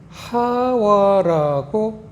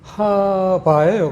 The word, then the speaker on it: 하와: 근데 이 와우 바우 해서 이 바라는 거는 와르 발음을 해도 관계없어요. 와르 발음하거나 바르 발음하거나 똑같습니다. 발음이 와우 바우라고 배워요. 신학교에서. 그래서 하와 하바 똑같은 뜻입니다. 발음은 틀리진 않아요. 두 개 다.